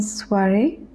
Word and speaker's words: soirée: Une soirée au théâtre. We know that this combination OI is pronounced as wa or ua. So over here it is soirée.